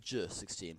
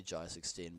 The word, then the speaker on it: Jai16: Well, it's actually pronounced J16, but I just say Jai16 because it's like the American way of saying it.